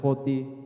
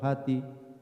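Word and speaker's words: ὅτι: Esta es una pequeña palabra en griego, una conjunción, se pronuncia hoti o hati.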